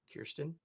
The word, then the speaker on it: Kirstin: yes, it's definitely not Christian, but it's also I just know, and I've been Kirsten.